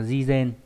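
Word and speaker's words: 事前: Đây là cái từ sự và chữ tiền đọc là jizen.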